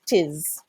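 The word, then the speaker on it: 'tis: it M is together it shortens it a little bit instead of two syllables you're not only taking one so you just kind of brush the T and then go straight for the is tis same thing if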